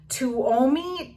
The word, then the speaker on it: Tuomi: question is from and i'm gonna try to pronounce this stuff okay tuomi t-u-o-m-i she says do you store old planners